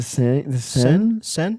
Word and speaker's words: Seine: The Seine?